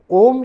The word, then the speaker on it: ओम: ओम शब्द जो है वह 3 शब्दों से बना हुआ है, आकार, वकार और मकार। अ, उ और म।